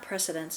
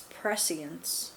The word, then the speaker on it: prescience: Is that not precedence, it's prescience, prescience is how it's literally written, or how it's spelled.